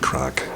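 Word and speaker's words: craic: Crack as we say in Belf. I suppose I have to explain that crack isn't crack. Um, crack is spelled C C R A I C.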